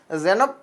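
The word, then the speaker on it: செனாப்: சிந்து நதியுடைய மிகப்பெரிய துணையாறு என்னன்னு சொல்லி கேட்டாங்கன்னா அது ஜீனப் நதி தான். ஜெனாப்னு சொல்லுவாங்க. நிறைய இடத்துல பார்த்தீங்கன்னா இது எப்படி உச்சரிப்பு இருக்கும், ஜெனாப் அப்படின்னு சொல்லியிருக்கும். ஜெனாப் அப்படின்னு சொல்லியிருக்கும்.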